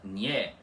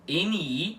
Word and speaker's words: NI: Então, o NI em baoborano fica sempre com som de nha e não de ni, como se fosse uma sílaba, certo?